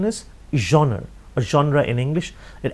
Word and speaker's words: genre: writing is the highest genre spelling is g-e-n-r-e the spelling is g-e-n-r-e but the pronunciation is genre or genre your genre